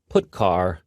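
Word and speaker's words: putchar: these three are the most popular they are pronounced printf putcar and puts each function is designed to send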